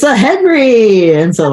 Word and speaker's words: Henri: Henri. The French spelling, that's right. Henri. How do you say it if you're French? How do you say it?